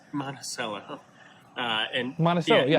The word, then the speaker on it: Monticello: If you are ever in, is it pronounced Monticello? It's pronounced Monticello.